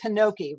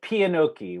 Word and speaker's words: Pianocchi: starred in, called, and you pronounce it Pinocchi, right? I say Pianocchi, which I, at that time, Mezzochi in Italian means half eye. And so I just did a translation, and piano means full, and oki means eye, so full eye.